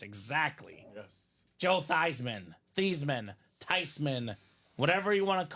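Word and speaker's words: Theismann: it's all good we're actually supposed to be pronounced tysman tysman she it was all wrong the whole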